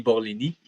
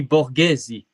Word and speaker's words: Borghesi: de Toronto de Vinny Borlini. Et ce serait normal que tu ne l'aies pas vu parce que c'est pas Vinny Borlini. C'est Ah! Vinny Borghesi.